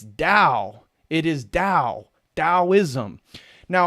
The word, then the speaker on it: Tao: Giles system and so Daoism is pronounced in English like it has a d it's Dao it is Dao taoism